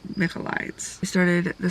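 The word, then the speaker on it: Michaelides: can guess you myself o no Alex mides it's mides I started the silent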